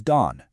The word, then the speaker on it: 郸: The first one, pronounced Han. This gives us a sense of place. And the second is Dan.